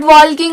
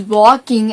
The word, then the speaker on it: walking: And it is not walking and talking, it is walking and talking. And the letter L is silent.